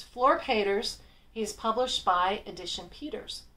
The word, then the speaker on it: Flor Peeters: what is his name and how is it pronounced and it's Fleur caters he's published by Edition Peters his principal publisher